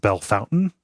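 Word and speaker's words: Bellefontaine: called it's spelled b Fontaine but it's it's pronounced B Fountain uh oh that's horrible yeah we have a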